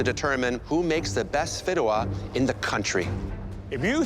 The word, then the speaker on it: fideuà: And the dish you'll be making is Fideuà.